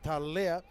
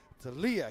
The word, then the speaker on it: Talia: E hara ko te Talea, engari ko te Talia ke, Talia.